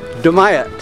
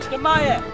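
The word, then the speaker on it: Dumyat: Dumayet. Dumayet. Dumayet.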